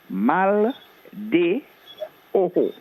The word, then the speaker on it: mal de ojo: will get the pronunciation, mal de ojo. MALDEOJO, where the J sounds as an H in the Spanish language.